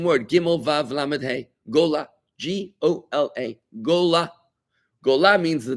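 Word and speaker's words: גולה: Gola. G-O-L-A. Gola. Gola means the diaspora. Gola means the exile. You know, when Jews were exiled into the diaspora from the Holy Land. Gola is the exile, right?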